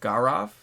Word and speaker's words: Gaurav: The A is pronounced, the first syllable of the vowel is pronounced like the A in car. The second syllable also. So Gaurav Joshi.